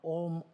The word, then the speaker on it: Om: uh uh you know the OM om means there's a three syllables uh combined a or Ma so it it represent